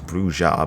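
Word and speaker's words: Brujah: the bruja the bruja partly because there are two pronunciations i'm forever being told of which one is correct even though i know damn right it is bruja but you know white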